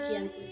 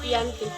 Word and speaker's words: Giyanti: Dalam pelafalan Belanda, ia tersebut sebagai Giyanti, dan secara tertulis ia terbaca sebagai Giyanti.